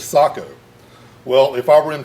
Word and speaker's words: Sako: He said, Ben, why do you call it Seiko? The Finnish pronunciation is Sako.